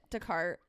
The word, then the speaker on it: Descartes: Immanuel Kant, Plato, or dude, I can't even pronounce. That's Descartes. That's it. Descartes.